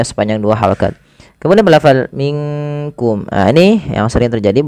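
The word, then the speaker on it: مِنْكُمْ: Kemudian berfal minkum. Ah ini yang sering terjadi bukan minkum tapi dia samarkan ke huruf kaf.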